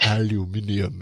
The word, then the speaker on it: aluminium: Aluminium. If you have any any British listeners that are like that's the correct way to say it.